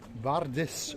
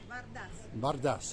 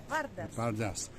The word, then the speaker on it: Vardas: Today, we're outside the Vardis restaurant, which is that just up there? Vardas. How do you say it? Vardas.